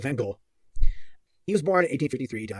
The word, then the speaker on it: van Gogh: at mango and gold vincent van gaal van gaal van gaal i've heard so many different pronunciations i'm gonna go with van gaal he was born in